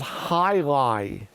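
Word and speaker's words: jai alai: the Alpine Club that's called High Lie pronounced h-i-l-i but it's spelled of course j-a-i-a-l-a-i highlight they play highlight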